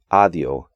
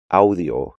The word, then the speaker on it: audio: In English, the AU combination is often just pronounced A, which makes English speakers want to pronounce these words like aplauso, audio, and autor, when they should be aplauso, audio, and autor.